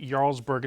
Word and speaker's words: Jarlsberg: It's spelled with a J, but you pronounce it Jarlsberg.